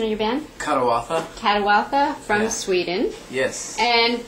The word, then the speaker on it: Kadawatha: what is the correct pronunciation of your band? Kadawatha.